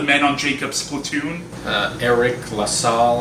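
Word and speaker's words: Eriq La Salle: on jacob's platoon uh eric lassall i believe is how you pronounce his name he's another one of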